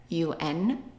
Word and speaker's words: un: Now, since it's a masculine word, we are going to use, right, un, which is pronounced un.